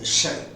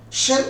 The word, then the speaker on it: shall: so when sh ch in the first person it should be sounded as shell but when it is used in the second and third person it should be pronounced as shall come shall as an aary of